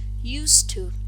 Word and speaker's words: used to: with the expression you used to in that case used to is pronounced with a voiceless sound you will see that